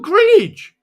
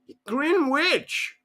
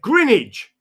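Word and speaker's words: Greenwich: I said, "Oh, Grinnidge." And they went, "Green witch." And I went, "Yeah, Grinnidge."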